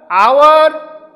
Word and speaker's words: hour: Here hour starts with ace but its pronunciation is omitted, so we can use and before it.